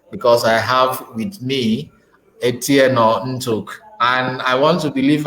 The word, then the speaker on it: Etieno Ntuk: I'm so happy that this moment is really possible because I have with me Etieno Ntuk. And I want to believe I got your pronunciation properly, Etieno Ntuk.